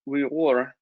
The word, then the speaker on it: Uyghur: fashion um the word uighur is actually pronounced we wore but in english we commonly just refer to them as the uyghurs there's about 12 to